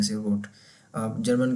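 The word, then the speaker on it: rot: यहाँ पर अब रेड होता है इंग्लिश में तो इसको रोड कह देते हैं, रोट, थोड़ा सा भारी आवाज़ निकाल देते हैं आर की बस।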